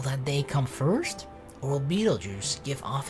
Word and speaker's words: Betelgeuse: moonlight Orion shone brightly you can still see Betelgeuse that's how it's called right not better goose re0